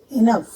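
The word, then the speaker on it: enough: जी अक्षर एच के साथ होता है, कई जगह उसका प्रोनाउंसिएशन जी ना होकर के फ का, एफ का प्रोनाउंसिएशन बन जाता है। जैसे कफ, रफ, इनफ, लाफ, तो इन सब में जी एच का प्रोनाउंसिएशन एफ बन जाता है, यानी कि फ बन जाता है। इसका जी साइलेंट हो जाता है।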